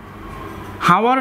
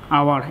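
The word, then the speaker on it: hour: ঠিক সেভাবে এখানে হাওয়ার না বলে আমরা বলবো আওয়ার, কারণ এটা আইতে সিম্বলে বোঝায় যে এটা হাওয়ার নয়, এটা আওয়ার, এই কারণে এখানে এন।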